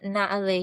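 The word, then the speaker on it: Naaleh: Yeah, so the podcast is named Naale Yoga Nidra for deep rest, and it's spelled Naaleeh.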